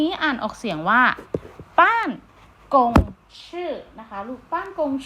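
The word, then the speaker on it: 办公室: ไป หา คำ นี้ อ่าน ออก เสียง ว่า ป้าน กง ชื่อ นะ คะ ลูก บ้าง คง ชื่อ เนี่ย ใน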